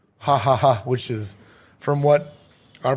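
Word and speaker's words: Jajaja: a Mexican s called hahaha which is from what our Buddy Joe told us the J is pronounced H yeah the J is pronounced H in in in the Mexican language so it says j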